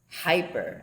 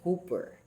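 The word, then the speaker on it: ὑπέρ: Hyper actually the pronunciation hooper hooper kjv4 lexical meaning on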